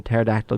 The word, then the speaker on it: pterodactyl: Like, why can't you hear a pterodactyl go to the restroom? Because the P is silent.